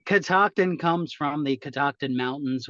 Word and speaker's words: Catoctin: Catoctin.